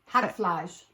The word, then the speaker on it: Hackfleisch: Hackfleisch.